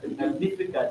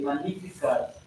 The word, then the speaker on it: Magnificat: Anyway, it's not called the Magnificat, it's called the Magnificat. When you pronounce it, you don't pronounce the G.